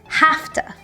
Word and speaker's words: have to: sound and have to becomes like an F sound half two and we say it really quickly together hafta hafta oh I have